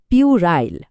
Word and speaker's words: puerile: সেই শব্দটা হলো পিউরাইল। খেয়াল করুন উচ্চারণটা হবে পিউরাইল।